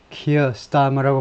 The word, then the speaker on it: Keir Starmer: Keir Starmer's party, Keir Starmer라고 발음하죠.